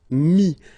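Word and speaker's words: mis: And then mettre, to put, so ETTRE will give you this IS, mi. Same thing here, final S is not pronounced.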